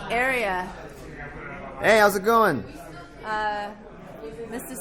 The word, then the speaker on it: Arya: And then Arya. I think ever since Game of Thrones came out, there's that Arya character. Now everybody could kind of pronounce it. You said area, like an area rug.